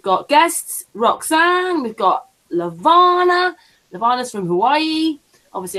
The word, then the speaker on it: Levana: do we call you or do we call you somebody have to say it right yeah no you can call me levana yeah I'll call your